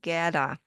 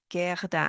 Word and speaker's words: Gerda: Some people don't say it at all. Gerda, not saying it at all. Gerda, I could pronounce it a little.